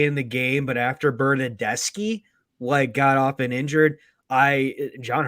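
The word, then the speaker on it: Bernardeschi: was a horrible pass by Bernaducci or Decci, whatever you pronounce it. Bernadeschi, chill. Bernadeschi, okay.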